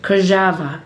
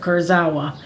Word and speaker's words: Kurzawa: And that's really how you pronounce our name in Polish, Kajava, instead of Kurzawa.